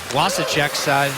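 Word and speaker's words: Vašíček: You might as well throw, God rest his soul, Wasicek's name in the W's too, even though it was spelled with a V but pronounced with a W.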